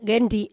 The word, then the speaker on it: Genly: enviado que se llama genji hay Aunque la gente de gueden le llama genly porque no pronuncian bien la r cuando llega cuando llega